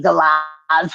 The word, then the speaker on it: galah: Galahs? Galah? That's a galah. That's a baby galah wanting to be fed. So when you've got the kookaburras and you've got guys singing, then you have the galahs come along with their, yeah.